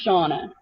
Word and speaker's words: Shannah: my name correctly so my name looks like Shanna but it's actually pronounced Shana and if I tell